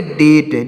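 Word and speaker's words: debt: पढ़ेंगे डी ई बीटी तो यहां पर बी साइलेंट है तो इस इसको पढ़ेंगे डेट क्या पढ़ेंगे दोस्तों इसको पढ़ेंगे डेट डी ई बी टी तो डेट इसको पढ़ेंगे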